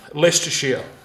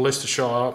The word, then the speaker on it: Leicestershire: Leicestershire. Or Leicestershire. Leicestershire, I think you pronounce it.